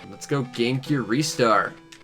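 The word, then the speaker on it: Ristar: next we have restar some people call it rystar i pronounce restar the shooting starfish i'm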